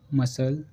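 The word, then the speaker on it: muscle: Next रूल है हमारा सी silent. सी silent कब रहता है? जब एस के बाद सी आता है तो हमेशा ही सी साइलेंट होता है।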